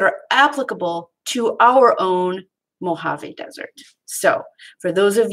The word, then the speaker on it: Mojave: applicable to our own Mojave Desert. So for those of you that like to read things, that's what that looks like. And it doesn't sound like it looks, does it? But it's Mojave, that's how it's pronounced.